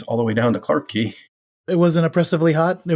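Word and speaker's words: Clarke Quay: it on tour buses I've heard Clark key and it's spelled qu a y and they call it Clark key so apparently there's a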